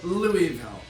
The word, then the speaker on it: Louisville: Okay, so Louisville. One thing that's spelled wrong. The It's S is silent.